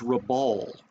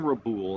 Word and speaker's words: Rabaul: Now, Truk can be a staging base for the Japanese to launch down to, uh, Rab- it's Rabaul. Rabaul, I've been saying Raboul and I do apol- I know that upsets a lot of people when you mispronounce the name or something.